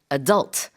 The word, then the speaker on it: adult: a minor to an adult. Exactly. And the pronunciation of this word differs depending on which part of the world you're in. In North America, they say adult.